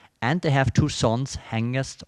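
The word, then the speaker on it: Hengist: they have two sons hangist or hen jest as tolkien would have said and horsa now are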